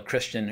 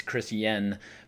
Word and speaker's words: Chrisjen: And I apologize, I know I always call her Christian, it's Chris Yen, but it's just, for whatever reason, it's spelled Chrisjen, so I just pronounce it Christian.